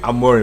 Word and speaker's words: Amorim: says that listen he says Ruben Amore the only guy whose name rhymes with amore fire amore wins amore